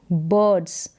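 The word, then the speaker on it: birds: बर्ड्स फ्लाई, ये जो आई आर है इसका उच्चारण अर करके होता है या फिर सीधा अ करके, बर्ड्स।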